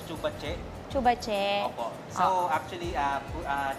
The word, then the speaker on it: Zhu Ba Jie: Ah ang tamang pronunciation po is chubache.